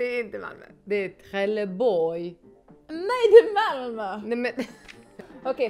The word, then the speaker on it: Trelleborg: But now you also have to pronounce it. Trelleborg. Trelleborg. Why does it sound French? Because it's Skånska.